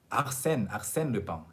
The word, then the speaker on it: Arsène Lupin: So Arsène Lupin.